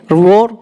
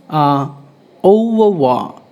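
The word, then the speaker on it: au revoir: Next, it's not I revore. Revore. It's called. It's overwa. Overwa. It's not a revore. It's overwa. It's a foreign language. That's it's how it pronounced.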